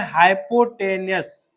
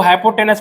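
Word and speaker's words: hypotenuse: इसको हाइपोटेनस पढ़ते हैं। ठीक है ना? हाइपोटेनस। लेकिन स्पेलिंग में देखो एन यू एस ही होता है। अब तुम लोग याद कर लो कैसे करना है। हाइपोटेनस याद करना है तो वैसे याद कर लो स्पेलिंग नहीं तो बोलना लेकिन हाइपोटेनस बोलना है।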